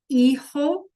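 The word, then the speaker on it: hijo: The H is silent and the J sounds like an H. So I'll say them one more time. El eho laa.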